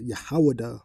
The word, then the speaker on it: Yahawah: back to, comes from the Hebrew name Yahuwah, which is Yahawah, right? The correct pronunciation is Yahawah, meaning praise or celebrate,